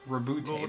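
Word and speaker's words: Roboute: With these words, I, Rabute Guilliman, Rabute, that's how you That's how say you it.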